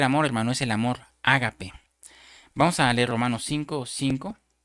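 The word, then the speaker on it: ἀγάπη: Y la palabra que que se se traduce amor aquí en este versículo, hermano, viene de una palabra griega que se pronuncia ágape.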